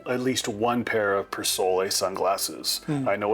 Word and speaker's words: Persol: I say every gentleman, sartorial gentleman, should buy himself at least one pair of Persole sunglasses. I know it's pronounced Persole, but I like the way Persole sounds.